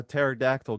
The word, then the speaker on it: pterodactyl: can't you hear a pterodactyl go to the bathroom i don't know q why can't you hear it do you know i don't know because the p is silent oh my god that's